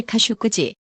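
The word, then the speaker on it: Khashoggi: 마이크 폼페이오 미국 국무장관이 자말 카쇼크지 영어권에서는 카쇼기로 발음 실종 사건이 발생한 터키에 도착했다고 AFP 통신이 17일 보도했습니다.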